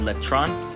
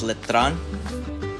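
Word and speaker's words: Letran: is a university right across from it called lron let me pronounce it correctly it's letron and if you keep going down the road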